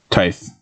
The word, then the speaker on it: Tithe: Smothering Tide. Tith? Tide? I don't know how to say it. Tide? Tith? Tide? Tithe.